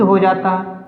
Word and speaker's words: whose: Word देखिए WHOSE huge, यहाँ पर क्या है? W साइलेंट है। अगर W बोला जाता तो वह की साउंड बोलता, वह यूज हो जाता, ठीक है ना, लेकिन यहाँ पर तो W साइलेंट है, इसलिए हम इसको क्या बोलेंगे, हुज, WHOM, हुम, WHOL, होल।